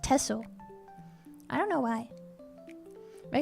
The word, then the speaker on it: Texel: I I assume that must be like the local dialect because you don't pronounce it with an X. You don't pronounce a texel. It's pronounced tessle.